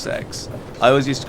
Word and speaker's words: CEX: Um but uh they have so first of all, the the shop is pronounced sex. I always used to call it CEX um because it was an acronym for um uh complete no uh computer exchange really.